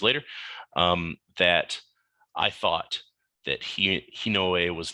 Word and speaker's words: Hinoa: Now, Hinoa's name in Japanese is Hinoe. And with my experience of hearing players mispronounce monster names all the time, I felt some players might call her Hino.